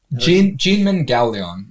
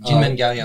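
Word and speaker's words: Kinmen Kaoliang: Jinmen Gaoliang. Jinmen Gaoliang. It's not pronounced the way it's spelled with the K's.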